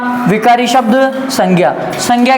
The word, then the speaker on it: संज्ञा: आपको बताया था कि यह संज्ञा नहीं होता संजा होता है क्या होता है संजा संज्ञा नहीं होता क्या